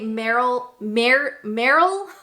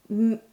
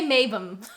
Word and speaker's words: Marylebone: So in my heart, as a North American speaker, I want to say Marylebone. But a lot of times Brits like to drop syllables off of places, off of names and things. So if I was going to take a punt at this one, I'm going to say Mabon.